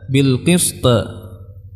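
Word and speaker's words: بالقسط: Banyak dari kita yang mengucapkan bil qist, bil qist. Ya, ini salah, tapi bil qist yang benar.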